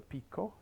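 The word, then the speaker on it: picó: it stung me well the pico is it stung with that accent on the o where do you think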